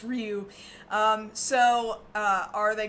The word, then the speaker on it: Ryu: where uh you know tons of people in America think that Ryu from Street Fighter's name is rayu and it's not it's Ryu um so uh are